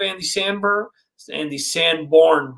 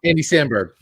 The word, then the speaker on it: Andy Samberg: actors are good, and I'm a fan of Andy Sanborn, Jesus. Wait, did I say it right? No. Andy Samberg. Andy Samberg. Jesus. Andy Samberg. Samberg.